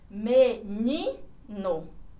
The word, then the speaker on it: menino: Menino. A sílaba forte está aqui na penúltima. Então, ela se classifica como paroxítona.